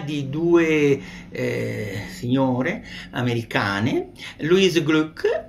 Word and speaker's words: Glück: Louise Glück, nome difficile da pronunciare, pare che si debba dire una U che sembra una I, Glück.